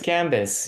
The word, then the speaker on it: Gambis: it's gambis or gambies it's G it's gambis yeah it's a French name we we have odd consonants that we pronounce and we don't pronounce but it's gambis yeah how are you oh not not bad